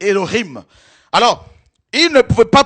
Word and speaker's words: Elohim: ou encore Elohim Elohim ça écrit en français Élohim mais c'est ellohim alors il ne pouvait